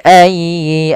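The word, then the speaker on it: أَيِّ: Kemudian fabi ayyi ala'i rabbikuma tukadziban. Lafal fa, alirkan nafas. Fabi ayyi, tekan dianya ayyi, ya, jangan ayyi tapi ayyi.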